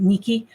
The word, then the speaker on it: Nike: Um even the word like Nike, the Nike swish, you know, that means victory. It's is pronounced Niki in in Greek.